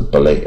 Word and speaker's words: ballet: 。dance step 就舞步啊，这 ballet 啊，这 T 不发音啊，ballet 啊，芭蕾的舞步。